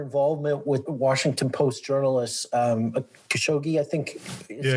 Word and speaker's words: Khashoggi: It's actually kind of amazing to me that despite their involvement with Washington Post journalist Khashoggi, I think is how you say his last